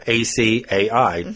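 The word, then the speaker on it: açaí: It's called acai. People call it acai or acai. I've heard acai a lot. It's acai.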